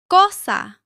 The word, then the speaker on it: cosa: Cosa.